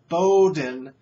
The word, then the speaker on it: Bowdoin: out the crappy school in brunswick maine is pronounced bowdoin and spelled bowdoin yeah dumb bowdoin is it